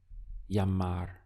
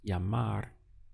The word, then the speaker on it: llamar: Llamar. Here we have the double L, which is always pronounced as a Y in Spanish. So we have this sound of ya and then mar. Llamar is to call.